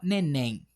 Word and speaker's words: neném: A gente fala neném ou a gente fala neném? A gente fala neném. A última sílaba aqui, a sílaba tônica é a última, então é oxítona e termina em m.